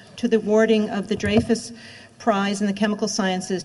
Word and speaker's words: Dreyfus: was very impressed that you pronounced it draus Foundation which of course it is even though some people might incorrectly call it dfus Foundation I'm well aware of